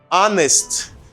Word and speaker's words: honest: Honest. On dit honest because in this word the H is silent.